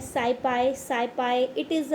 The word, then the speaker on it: SciPy: लिए normal distribution को, उसको हम प्रोनाउंस कैसे करते हैं, साइपाई।